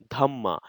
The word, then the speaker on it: dhamma: the principles of righteousness Dharma in pakit is pronounced as dhama hence Ashokan inscriptions are the main sources from